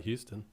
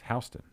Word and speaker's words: Houston: Like when you go to Dallas, even, and you look at Houston Street, you know how they pronounce that? Not Houston. No, it's Houston. Houston.